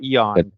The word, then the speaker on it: Aeon: I think it's pronounced Eon, maybe Aeon. I don't know.